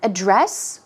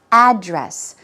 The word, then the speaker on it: address: at this word here a dress or a dress the word can be pronounced two ways but definitely when you say a dress when the stress is put on the first syllable we're talking about the